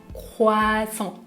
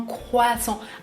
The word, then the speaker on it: croissant: en France c'est un croissant un croissant attention à la prononciation je ne prononce pas le "t" à la fin un croissant deuxième viennoiserie que vous